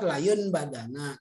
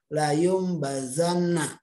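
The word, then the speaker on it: لَيُنْبَذَنَّ: layunbadzanna layu Mbak Gana Jadi kalau dibaca ideal layunbadzanna tapi di sini dibacanya suara mim dan dalam Alquran sering diberi tanda Meme di atasnya layu Mba zannah harus dibaca Layung bazan nah jika nun mati ini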